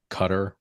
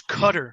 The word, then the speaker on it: Qatar: the one of the things they said about Qatar or Qatar um but did you see that